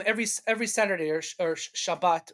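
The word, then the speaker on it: Shabbos: every Saturday or or Shabbat or chabas if you use the ashkanazi pronunciation um we take out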